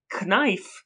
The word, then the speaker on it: knife: Knife has a K in it that we don't really use, right?